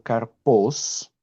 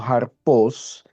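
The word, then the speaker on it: καρπός: Y la palabra fruto viene del griego karpos, algunos lo pronuncian como harpos, que no implica esfuerzo.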